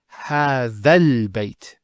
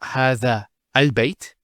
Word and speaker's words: هذا البيت: So, how do we pronounce it? It's هذا البيت. So, it's not هذا al-bayt. You don't pronounce this hamzat al-wasl here. So, you go from this alif to this lam. هذا البيت. If it started a sentence, it would be al-bayt. Okay, let's continue on.